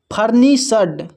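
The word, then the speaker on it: furnished: फर्नीसड देखिए यहां पर एफ यू आर एफ यू आर को पढ़ते हैं फर एन आई को पढ़ते हैं नी। एस एच ई डी एस एच ई डी को पढ़ते हैं सड।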